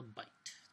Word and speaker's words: byte: You put 8 of these bits together and you have what's called a byte, pronounced B-I-T-E, but it's spelled B-Y-T-E.